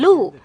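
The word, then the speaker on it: 禄: The deer pronounced the same in Chinese as prosperity, and also authority.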